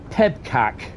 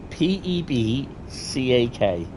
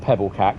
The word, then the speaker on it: PEBCAK: I was like okay there we go it's pronounced pebcak PE EB c a k have you ever heard of that pbac any ideas what it means pebc p e b c a k no not Pebble CAC pebcak I'll give you till we get to